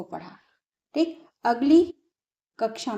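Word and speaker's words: ङ: कुछ राज्यों में सब कणा पढ़ देते हैं, नहीं, इसको पढ़ते हैं अंग, इसको या, इसको ण, इसको न, इसको म।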